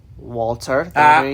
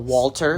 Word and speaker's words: Walter: It was Walter. Say his name right. The Ring General Walter. No, Walter. Walter.